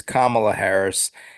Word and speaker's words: Kamala Harris: So that was but you don't pronounce her name Kamala, clearly. No. She's not the No. Ugandan. She's no Ugandan giant. No. She is Kamala Harris.